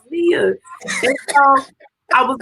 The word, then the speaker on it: Nia: It's not Nia, it's Nia.